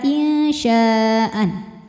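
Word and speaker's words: إنشاءً: Insya'a, a jika berhenti hukumnya mad iwad karena ada harokat fathah tain yang diberhentikan. Cara bacanya dipanjangkan 2 harokat tanpa ada bunyi n-nya. Insya'a.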